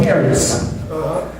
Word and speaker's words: charis: When you look at the biblical days, the word grace, which in the Hebrew is pronounced charis, C-H-A-R-I-S.